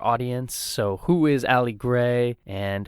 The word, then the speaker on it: GRY: Well, no, it is pronounced Gray.